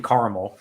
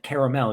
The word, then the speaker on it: Carmel: We stopped at this gas station in Carmel, and the guy at the gas station kept pronouncing it caramel. It's like, you're in Caramel, New York. I'm like, no, motherfucker, it's Carmel. There's no goddamn A.